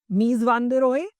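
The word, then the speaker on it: Mies van der Rohe: कहा less इज more, मीज वान दे रोहे, राइट? तो लेस इज मोर किसने दिया है आपको? मीज वान दे रो ने। क्लियर? ई इनका साइलेंट रहेगा तो मीज वान दे रो।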